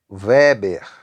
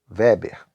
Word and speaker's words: Weber: Unidade de medida do fluxo magnético é o Weber, tá? WB, Weber, ou Weber, né? De acordo com a pronúncia.